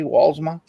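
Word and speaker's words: Walsma: tonight and those people uh gerald vance walzma walzma w-a-l-s-m-a wallsma hey don't if you have a name that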